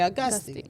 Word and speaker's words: Auguste: Some say Augustus, you know, the the French says Augustus because they don't pronounce the E at the end, but Americans we say Augusti, right?